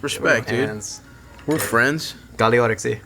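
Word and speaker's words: Καλή όρεξη: Kaliorexi. Kaliorexi. There we go. Good pronunciation.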